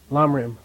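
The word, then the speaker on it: ལམ་རིམ: Pronounce this? Lamrim.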